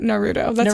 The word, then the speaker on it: Naruto: Nar Naruto or Naruto technically that is the right way to say it Naruto that's yeah that's how it's said in the in Japanese um so I think